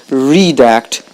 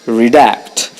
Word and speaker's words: redact: on the second syllable redact it's a verb the stress is on the second syllable that's why is not redact its redact it means to remove